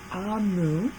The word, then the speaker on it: Omu: Amu is pronounced Amu, is the Igbo term for queen in another language.